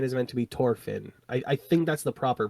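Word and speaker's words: Thorfinn: I think that's supposed to be the actual pronunciation in their language.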